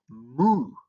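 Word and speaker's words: mu: uh you also have moo. So moo uh is uh written like this and also uh it has a m sound.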